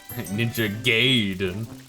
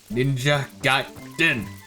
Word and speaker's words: Ninja Gaiden: Ninja Gaiden. Ninja Gaiden. Hoi! Always remember, that's how it's pronounced.